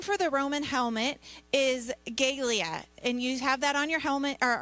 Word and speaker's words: galea: so the name for the roman helmet is gaelia and you have that on your helmet or on your handout there and it's spelled g-a-l-e-a and it's pronounced galea the helmet was made